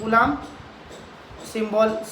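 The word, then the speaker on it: coulombs: Scalar quantity SI unit कूलाम, कूलम्स, आप English में उसको कूलम्स बोलते हो, हिंदी में कूलाम चलता है, वो कूलम्स. ठीक है, स्पेलिंग बोलूँ क्या कूलम्स को?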